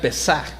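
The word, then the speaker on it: פסח: La palabra Pascua viene de un término en hebreo que se puede pronunciar Pesaj, que literalmente significa pasar por alto o encima, y figuradamente preservar o incluso tener misericordia.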